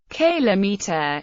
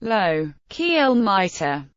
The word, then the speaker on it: kilometre: pronunciations for the word Kayla meter low-key almighty the former follows a pattern in English whereby metric units are pronounced with the stress on the first syllable and the pronunciation of